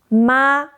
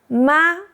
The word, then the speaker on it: 妈: The pronunciation is simple. Start high, stay flat, just like the doctor's ah we talked about.